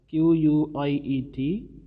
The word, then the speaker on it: quiet: way to pronounce quiet q-u-i-e-t and q-u-i-t-e so how do you pronounce q-u-i-t it is quite and uh q-u-i-e-t it is quiet and you know the